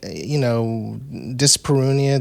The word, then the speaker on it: dyspareunia: Dyspareunia. The idea of like, is that how you pronounce that?